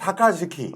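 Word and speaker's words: さかずき: 이게 그러니까 이 협약식을 그 일본 깡패들은 이제 사카즈키, 사카츠키. 발음 잘해야 됩니다. 사카즈키, 네.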